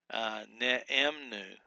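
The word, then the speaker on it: נאמנו: Ne'emnu, ne'emnu is how you'd break that down. It's 3 syllables long.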